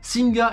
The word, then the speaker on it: Singha: ne prononce pas singa messing car la dr syllabes et muette en thaïlandais dernier détail sur singh lorsqu'on l'on va sur leur site la première